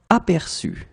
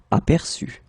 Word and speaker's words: aperçu: Apercevoir, aperçu. Okay, remember CD here, so you've got to pronounce it like s, aperçu. Boire, bu. Connaître, connu. Apercevoir, aperçu.